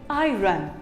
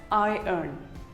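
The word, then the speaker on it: iron: day most of it call it i run well it is wrong it is actually pronounced as i n i n you can even say it as i earn i earn who doesn't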